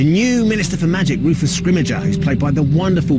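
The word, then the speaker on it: Scrimgeour: how to say his name and going with scrimmager I think that's how we've ended up saying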